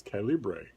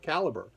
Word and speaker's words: Calibre: there's an app that i have been pronouncing on this channel as calibre forever since i first learned about it i've been pronouncing it that way but actually it's called caliber and as i watch